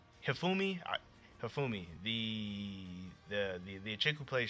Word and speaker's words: Hifumi: I want to say her name is Himiko. No, Himafumi. Hifumi.